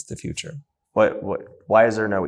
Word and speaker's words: Futur: Future is spelled F-U-T-U-R. There's no E, so you can say Futur, but it's the future.